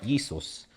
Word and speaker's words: Jesus: So same way when people say Jesus, you're saying the whole name incorrectly because it's never a J. Do you mean it's it's it's a Y really? Right. Jesus.